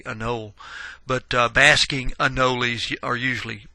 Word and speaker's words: anole: The anole usually, and actually you'll hear it pronounced anole. I tend to say anole, but basking anoles are